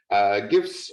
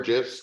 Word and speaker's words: GIF: GIFs or GIFs, depending on how you want to pronounce it. Pretty sure either way, people would know what you're talking about. It stands for graphics, so I always just go with the long G myself, and people seem to